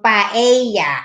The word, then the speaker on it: paella: Ano, eye, ang double L rather, double L, they pronounce it as ye, tortilla, paella, what else?